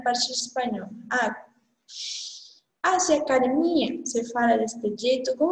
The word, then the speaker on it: academia: A pronúncia em português é academia. A parte forte é a parte mais forte de sua pronúncia. Só que em espanhol, sua pronúncia mais forte é o DE. Academia.